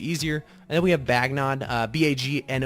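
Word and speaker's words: Bagnon: and then we have bagging on ba GN o n actually a little interesting way of pronouncing that is bagging on people call it different ways but this basically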